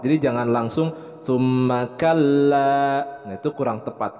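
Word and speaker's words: ثم: Nah, mim bertasydid hukumnya adalah gunnah, ditahan 2 harokat. Jadi jangan langsung summa kalla. Nah, itu kurang tepat karena ini adalah gunnah, maka ditahan dulu 2 harokat. Summa kalla, tahan dulu.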